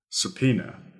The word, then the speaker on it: subpoena: Subpoena. That is spelled S-U-B-P-O-E-N-A. So it doesn't really sound like it's written.